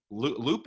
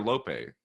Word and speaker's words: Lope: laid into, you know, Lupe or Lope? I thought it was Lope. Yeah, Lope or Lupe. I mean, either one. Okay. Pronounce the E. Pronounce the E. It's not Lope.